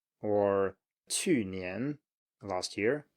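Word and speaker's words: 去年: falling and then rising. So 面条, noodles, 面条, or 去年, last year, 去年, 去年, and then 问题, 问题, problem or question.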